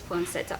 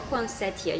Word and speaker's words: poinsettia: say of christmas is poncetta or poncetti you can pronounce it in two different ways well let's talk a